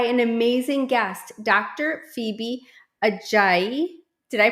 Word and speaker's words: Ajayi: Phoebe Aayi. Did I pronounce that right?